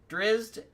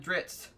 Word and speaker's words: Drizzt: Fun fact: on the intro to one of his books, he talked through it and he pronounced Drizzt both Drizzt and Dritzt at two separate times during the thing.